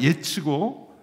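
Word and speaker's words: עֵץ: 이 나무와 겨를 대조하는데 히브리어로 나무가 예츠고 겨가 모츠입니다. 츠 발음으로 운율을 살려서 대조한 것으로 기억을 쉽게 하도록 한 것입니다.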